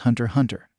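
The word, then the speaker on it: Hunter × Hunter: that show during patrols actually it's just pronounced Hunter Hunter the X in the name title is essentially purely aesthetic and isn't supposed to be said when saying the name corrected moral holding his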